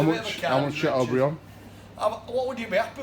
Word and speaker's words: Chateaubriand: And the little piece behind it is Chateaubriand. That's how you say it. Chateaubriand.